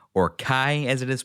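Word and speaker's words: chi: X being the Greek letter key or Kai as it is pronounced.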